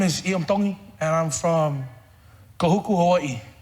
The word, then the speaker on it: Tongi: My name is Iam Tongi, and I'm from Kahuku, Hawaii. Iam Tongi. Tongi. You pronounce the T's like a D in the Tongan culture.